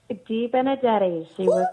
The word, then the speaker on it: De Benedetti: how do we actually how do we actually pronounce your last name dee Benedetti correct unfair because spirit usually tells me how